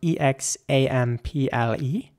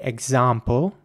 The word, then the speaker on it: example: you pronounce that word in British English people would say example again with an R sound and an American English people would say example with an air sound here's an example for